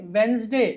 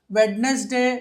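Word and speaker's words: Wednesday: వెనస్డే and Thursday ఏమనాలండి వెనస్డే బుధవారం వెడ్నెస్డే వెడ్నస్డే కాదు సాధారణంగా మనము చాలామంది వింటా ఉంటాం మనము వెడ్నెస్డే అంటా ఉంటారు వెనస్డే అంటారు ఇక్కడ డి సైలెంట్ లెటర్ అవుతుంది ఆ వెనస్డే అలాగే థర్స్డే థర్స్డేలో ఎస్ ని జలాగా చదువుతాం.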